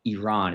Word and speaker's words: Iran: Well, you guess it, it's Iran. And I'm pronouncing it the American way. I guess Iran is the better pronunciation, but It doesn't matter.